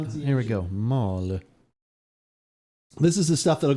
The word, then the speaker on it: Maule: Maule. Yeah. Maule. Maule Valley. I would have laughed if he would have pronounced it.